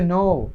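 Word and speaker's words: know: এটা হচ্ছে নো মানে জানা, নলেজ আছে না, নলেজ জ্ঞান, এরকম নো জানা, কে এটা উচ্চারণ হবে না।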